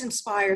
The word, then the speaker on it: IN-SPIRE: stand for well actually I guess we pronounce it in spire that's fine and I think inspires an acronym that many organizations are probably used but this one is spelled i N - spire and it kind of